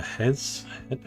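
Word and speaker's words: Huez: And then the up the Hez, sure we don't pronounce the H.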